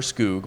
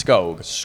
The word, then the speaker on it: Skog: office are really disappointed that it's not Wilmer skoo but it's skog we're going with the official pronunciation G yes SK o o g spelling